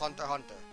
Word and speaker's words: Hunter x Hunter: family spy X family but it's by Family Hunter Hunter is Hunter Hunter it's Hunter x Hunter but it's actually pronounced Hunter Hunter uh what else there's another show that was